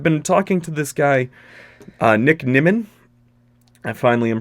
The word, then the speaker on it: Nick Nimmin: And this one caught me off guard, because I've been talking to this guy, Nick Nimmin. I finally am pronouncing his name correctly.